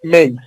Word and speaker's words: make: তো এইটার উচ্চারণ আর মেক হবে না, উচ্চারণ হয়ে যাবে মেক। মেক।